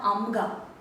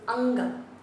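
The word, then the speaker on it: ಅಂಗ: But when you add the letter, it is not amga. That is anga. So the will become an.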